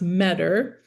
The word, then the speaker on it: Meador: I think um so one one thing I want to say my last name is pronounced Meador which most people don't pronounce it right but I just said that partly to DJ.